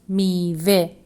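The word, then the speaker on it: میوه: Here again, letter he sounds e. It hasn't joined the letter B for it, which is letter vav, and this word is pronounced mive. The next word is sade, which means simple.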